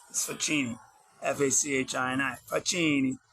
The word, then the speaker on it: Facchini: Facchini. It's pronounced Facchini, so it's like the word fuck, with an ini on the end in Italy.